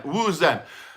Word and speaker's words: Wuzhen: I don't know how to pronounce it. Zen. Z-H-E-N. Wuzhen.